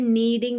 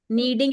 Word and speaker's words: kneading: the words are we we also have the word needing the door like you need the door that also is with Ken kneading is also done with